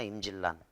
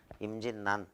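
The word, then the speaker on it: 임진란: 이거를 임진난이라고 발음하게 되어 있어. 이걸 임질난이라고 발음하면 이상하잖아. 임질난. 무슨 성병 이름 같기도 하고 임질난. 임진난 이렇게 적어도 임진난, 의견난.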